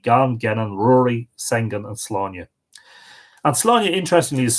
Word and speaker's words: Sláine: On Saturday, the calends of August, which is interesting because they're basically saying that it was Lunasa, Sláine landed at Inversláine.